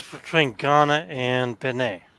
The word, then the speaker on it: Benin: Yeah, Benin is actually pronounced. It's Benin, but it's pronounced Benin.